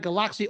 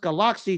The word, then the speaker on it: Galaxy: And for those of you who are listening, it's pronounced Galaxy due to the Thailand dialect, not Galaxy as Americans like to say.